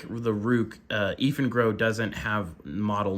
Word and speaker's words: Eafengrow: is by a company called Eafengrow, or at least that's how I pronounce it, spelled E-A-F-E-N-G-R-O-W. So to me, that says Eafengrow.